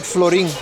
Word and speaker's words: florin: It's like florin. Florin. It comes from the Dutch word of florine.